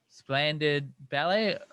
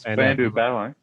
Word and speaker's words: Spandau Ballet: I always say the name wrong. Splendid Ballet, or it is Spandau Ballet.